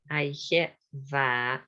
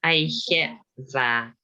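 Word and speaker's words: oidhche mhath: Aicheva. So DH is not pronounced. It's in the middle of the word, so it's not pronounced. Aicheva. It's there, but it's not pronounced. Aicheva.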